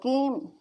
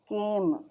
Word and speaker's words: came: For example, the word came has two vowels, but the E is silent, leaving one vowel sound and one syllable. So came చదవండి, came, came అని చదవట్లేదు.